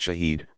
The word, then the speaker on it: shahid: The Arabic word shahid, pronounced shahid, means one who testifies or witnesses, and is thus more or less equivalent to the word martyr.